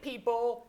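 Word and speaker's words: Peeple: that lets you rate people you know. All right. The app is called People, but it's spelled PE pl.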